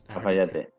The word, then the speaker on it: Cafayate: And is it pronounced Cafayate? Cafayate.